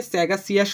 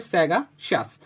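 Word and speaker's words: sagacious: ওয়ার্ডটার নাম হচ্ছে স্যাগাসাস যেটাকে আমরা অনেকে স্যাগা সিয়াস উচ্চারণ করি বাট সিয়াস বলতে কোন কথা নাই এটা হবে স্যাগাশাস এখন কথা হচ্ছে সেটা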